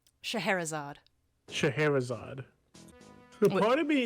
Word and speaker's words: Scheherazade: much like the story of, how do you pronounce her name? Scheherazade.